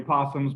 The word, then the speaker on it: opossum: skunks we've dealt with opossums um it's really possums but they had the o on there for whatever reason is silent but uh anyway he